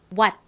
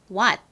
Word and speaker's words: what: 그래서 이 와의 밑에다가 티읕 소리를 넣어주면 어떤 발음이 되나요? what 이라는 발음이 되죠.